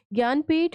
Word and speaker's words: ज्ञानपीठ: इज़ ज्ञानपीठ winner okay ज्ञानपीठ award है इसको ऐसे प्रोनाउंस करना है आपको ग जे एन गिय okay ज्ञानपीठ winner Vinod Kumar Shukla